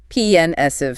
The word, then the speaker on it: pensive: Pensive. Stress on the first syllable.